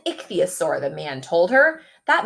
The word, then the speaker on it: ichthyosaur: to say this word if you look in the parentheses it tells you how to pronounce it so we can sound it out together Nick see a sore Ixia sore it's called an ichthyosaur the man told her